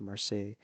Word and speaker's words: Marseille: Look at him, young man, a young Ho Chi Minh in Marseille, as I reckon you pronounce this Marseille in 1921.